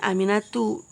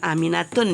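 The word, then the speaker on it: آمِنَةُ: Bacanya aminatu. Jangan aminatun ya.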